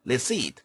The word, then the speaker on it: receipt: receipt. receipt. P가 발음되지 않습니다. 조심하시기 바랍니다.